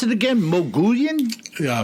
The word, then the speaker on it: Mogollon: Now, is this is this uh rim or ridge How How did you pronounce it again? Mogollon? Yeah, Mogollon. Mogollon.